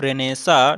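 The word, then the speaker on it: Renaissance: ये जो history of literature, इसको कई लोग रेनेसेंस भी पढ़ते हैं, तो इसका एक्चुअल जो आप प्रोनाउंसिएशन देखेंगे वो क्या है, रेनेसा है।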